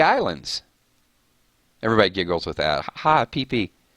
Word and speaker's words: Phi Phi: Bora Bora or the pp Islands everybody Giggles with thata PP it's it's Thailand it's Phi Phi I'm pretty sure it's pronounced PP though instead of Fifi I went to I